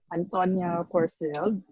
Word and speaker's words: Anntonia Porsild: And today we have a very special guest, one of the reigning Big Five winners from Thailand, Miss Anntonia Porsild. Did I pronounce it right?